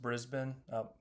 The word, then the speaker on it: Brisbane: It's pronounced Brisbane.